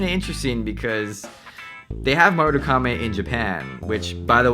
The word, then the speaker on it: Marugame: Marugame, or maybe you're pronouncing it Marugame. It's actually Marugame. You gotta roll the R.